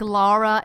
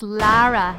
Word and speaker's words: Lara: Guys, please don't spell it like Laura. It's Lara, not Laura.